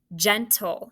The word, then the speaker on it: gentle: gentle gentle man gentlemen usually it is g right it sounds like a j though so did you mark